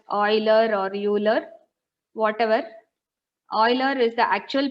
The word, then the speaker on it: Euler: I don't know whether you call it as Euler or Euler, whatever.